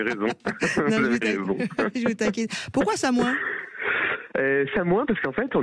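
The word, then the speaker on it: Samoëns: Ah, Samoin. Oui, je connais bien, ouais. J'ai fait une colonie de vacances. On prononce pas le S, apparemment.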